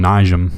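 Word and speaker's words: Nijem: I think they call him Nijam. Nijam. That's usually it's silent, but that's not right. Yeah, it's Niem.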